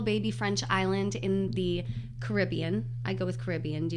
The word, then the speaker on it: Caribbean: I go with Caribbean, but I'd like to be able to say the Caribbean with the emphasis on the bean.